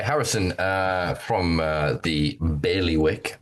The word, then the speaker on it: Bailiwick: That was Sai Harrison uh from uh the Bailey Wick. Bailey Wick. Uh that first I really matters a lot. Apparently, it's a pet peeve of people from Jersey if you pronounce it Baliwick, which is what I